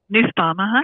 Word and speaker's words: Nussbaum: you get a little bit more information about Nussbaum. Am I pronouncing that right? Nussbaum, Yes, you are.